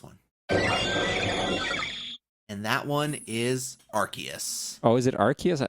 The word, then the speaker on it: Arceus: And that one is Arceus. Oh, is it Arceus? I thought it was pronounced Arceus, like Arse.